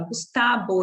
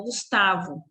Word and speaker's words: Gustavo: Observem que ele fala Gustavo e não Gustavo.